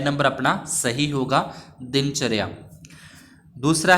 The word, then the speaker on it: दिनचर्या: लिख रखा है तो दिनचर्या का जो सही उच्चारण है व कौन सा होगा तो यह दोनों तो नहीं हो सकते क्योंकि इसमें दीन द बड़ी आ रही है उसके बाद दिनचर्या च के बाद र आता है तो मतलब ए नंबर